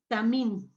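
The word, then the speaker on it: תמים: La palabra traducida como perfecto en el original es la palabra número 8549 y se pronuncia tamim.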